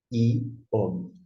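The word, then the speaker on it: יום: Assume aqui, então, a vogal. Nós temos I, O e U. E esta é a forma final do M. Você lê Iom.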